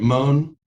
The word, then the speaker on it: Mohn: Would you agree, consistent with Smith versus Allwright and other cases, that had Mohn been, am I pronouncing his name right, Mohn? Yes.